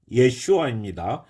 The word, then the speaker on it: 예슈아: 아들을 아들의 이름이 예수님이라고 했죠 예슈아 원래의 발음은 자 그래서이 예수님이 태어날데